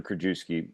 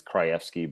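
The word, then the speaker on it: Krajewski: Kjookuski. If you were to say it right, it's Kryski, but I'm not Polish, so Kjookuski it is.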